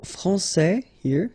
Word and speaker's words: français: Okay, so français, here you get this final S that you don't pronounce, so français, and then when you put this final E here, you will get française.